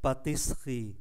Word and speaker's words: pâtisserie: Nhưng mà cái âm tiết mang ký tự ơ nó nằm kẹp ở giữa âm tiết 2 và âm tiết 4. Do đó chúng ta không phát âm ký tự ơ này, còn lại ba. Thay vì patisserie thì còn lại là patisserie.